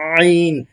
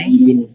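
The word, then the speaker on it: عين: আইন আইনটা একটু ভিতর আইন থেকে, শেষ ভাগ থেকে আইন আইন আইন আইন।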